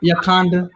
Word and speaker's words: Yakanda: You can call it Yakanda. That rhymes with Wakanda.